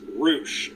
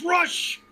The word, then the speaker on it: Rush: that they did actually pronounce roosh properly because i really was expecting taz to go like hey look it's rush i'm a big fan of him i like rush is it spelled that